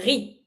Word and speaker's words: riz: Do not pronounce the Z. Le riz.